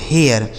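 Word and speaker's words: hair: तो एच ए आई आर इसे पढ़ा जाता है दोस्तों हेयर। एच ए आई आर हेयर और एच ए आई आर इसको इसको भी हेयर पढ़ेंगे। एच ए आर ई हेयर।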